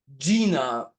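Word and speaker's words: Gienah: Gina, this is, I understand that this is how you pronounce it. Gyenah.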